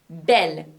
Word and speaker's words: belle: e double l e bell masculine and bell feminine are pronounced the same and it's exactly the